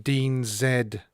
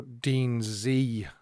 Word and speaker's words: Dean Z: presley day and then dean zed or dean zee actually as it's pronounced came on and sang